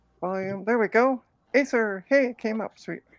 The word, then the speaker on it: Acer: am there we go Acer hey came up sweet it's pronounced acre that's randomly weird but